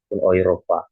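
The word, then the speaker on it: Europa: Baru yang berikutnya di sini jika huruf E bertemu dengan U ya, huruf E bertemu dengan U maka dibaca OI ataupun Oi ya. Maka cara bacanya menjadi oopa ya. dibacanya menjadi Oopa oiropa ya.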